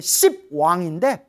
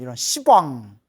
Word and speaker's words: 시왕: 10분의 왕, 시왕, 원래는 10왕인데 발음이 너무 세기 때문에 시왕, 이거 욕 같잖아요. 이런 시왕. 그래서 발음을 낮춰서 시왕이라고 부르는 거예요.